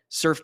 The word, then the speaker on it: Surfe: The tool is called Surf, and it's spelled SURFE.